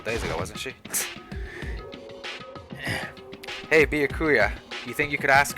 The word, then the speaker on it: Byakuya: Byakuya. It's Byakuya.